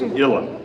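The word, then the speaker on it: uilleann: you see it spelled it's spelled u i l l e a n n right it's illen just ill so when you come to that illen pipes that's how you how you say it and it actually means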